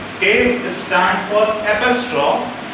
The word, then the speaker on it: apostrophe: So see, in this name shampoo, S stands for simile, then H stands for hyperbole, A stands for apostrophe, M stands for metaphor, P stands for personification, O stands for oxymoron, and O stands for onomatopoeia.